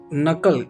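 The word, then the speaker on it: knuckle: नकल। यहां पर भी के क्या है? साइलेंट।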